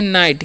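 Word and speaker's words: knit: हैं के एन आईटी इसे हम लोग पढ़ते हैं नाइट क्या पढ़ते हैं जी सॉरी नीट पढ़ते हैं ठीक है क्या पढ़ते हैं नीट और नीट मतलब होता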